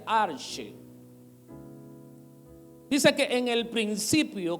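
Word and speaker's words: ἀρχή: aquí la palabra principio es una palabra en el griego que se pronuncia arche dice que en el principio cuando no había nada el arche cuando nada existía era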